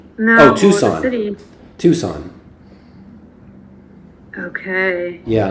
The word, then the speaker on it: Tucson: How do you pronounce that? Sonoran? Is that? No, Oh, Tucson. the city. Tucson.